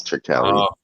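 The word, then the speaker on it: Turkalj: Yeah, it's Swedish, so the J is pronounced like an I. It's Turkali. Well, I'm Norwegian, so I'm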